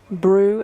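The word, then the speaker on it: brut: instances I think the alternative is one called brew and it's spelt B or UT that's bit dry yeah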